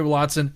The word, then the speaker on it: Willadsen: It's Danish. That's what I'm saying, and that's how we say it. That's how I've said like a German, like Willadsen. That's how you say it in German or in German. So, in Danish, yeah. I can speak a little Scandinavian, so you'd say Willadsen is what you would say. But yeah, Willadsen. Okay, I'll say it like you, Willadsen.